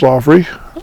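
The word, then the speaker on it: Loghry: these videos are going, under my name, Loffrey, over on YouTube. Last name is spelled L-O-G-H-R-Y.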